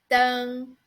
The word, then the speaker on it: 灯: And this one is 灯.